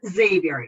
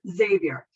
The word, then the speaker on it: Xavier: them for a loop so it is xavier even that x it is xavier but then usually their